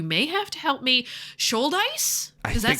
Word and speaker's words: Shouldice: Shouldice? Does that sound right? Andrew Shouldice?